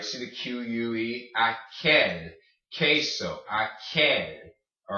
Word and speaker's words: queso: Queso. Aquel. All right. So when you have the Q-U-E, it makes a K noise, like queso, aquel.